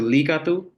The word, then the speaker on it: likatu: Likatu, just highlighting the I sound. The E is how they pronounce that letter, similar to Spanish. So Likatu, which just means pretty girl.